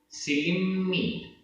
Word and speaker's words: सिलिम्मी: सिलिम्मी, सिलिम्मी आधा मा पूरा मा, सिलिम्मी। पडियो, पडियो। मुवई, मुवई। जहा, तह। परिगहे, परिगहे। पडियो, पडियो। लोही, मूढ़ो। खवणो, खवणो। काय क्लेशेषु, काय क्लेशेषु। अर्णाणि, अर्णाणि। मक्खी सिलिम्मी पडियो, मक्खी सिलिम्मी पडियो।